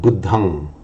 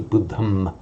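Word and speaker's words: buddhaṃ: So to say, on its own, buddhang, saranang, at the time of the Buddha, and certainly it probably was pronounced, and in Sanskrit we know that it is pronounced as a buddham and a saranam. Now, what happens to that sound when another word follows? So at the end of a word group on its own, for Pali, pronounce it as an ang.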